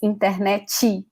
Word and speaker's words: internet: pronounce it like this internachi we have this tendency in portuguese to add a vowel after a consonant because this is the